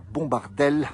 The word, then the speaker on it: Bombardellaz: Nous sommes, on le rappelle, au refuge de la Bombardelle. Alors ça s'écrit Bombardellaz, mais on ne mange pas, on mange plutôt les AZ.